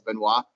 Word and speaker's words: Benoit: be training with so Ryan Benoit or binoy however you want to say he actually pronounced annoyed even though like the French pronunciation I think is Benoit he fights 125 usually